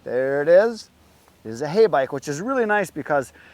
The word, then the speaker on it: Heybike: it is is a hay bike which is really nice because some of the companies that have sent me bikes I can't pronounce them so this makes sense it's hey it's a bike that's pretty simple I